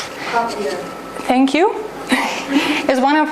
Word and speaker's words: cochlear: And this one, I don't know how to pronounce it correctly. Cochlear.